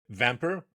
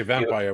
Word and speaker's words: Vampr: the co-founder and CEO vamper am I pronouncing it right I don't want to say vampire without vamper great a platform with